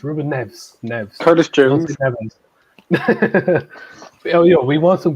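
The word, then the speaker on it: Rúben Neves: Ruben Neves isn't a bad shout as a backup. That's not how you say his name. It's Ruben Neves.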